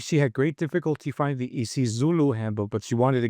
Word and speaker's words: IsiZulu: IsiZulu?